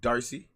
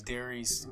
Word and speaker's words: Darice: Like you're writing a letter to Reese. You'd be like, Dear Reese.